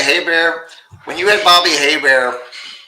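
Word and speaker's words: Hebert: Hey, and I'm going to say Hey Bear. When you had Bobby Haybear, the old cinjun quarterback play for Atlanta, it's pronounced Hey Bear.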